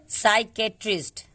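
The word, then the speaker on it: psychiatrist: इसको पढ़ेंगे साइकेट्रिस्ट, साइकेट्रिस्ट।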